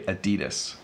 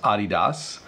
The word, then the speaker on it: adidas: three two one so this is pronounced differently in different parts of the world technically in North America we mispronounce it because we say adidas the proper pronunciation as